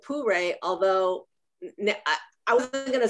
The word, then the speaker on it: pu-erh: And I believe that she pronounced it Pure, although I wasn't going